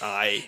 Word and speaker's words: arrête: À Montréal, on dit arrête, parce que c'est un accent circonflexe sur le E. Donc, ça se prononce arrête.